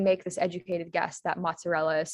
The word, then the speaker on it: mozzarella: So I haven't put the word on the screen, but so the word is mozzarella. And so some of you might know how to spell that, but if we think about it from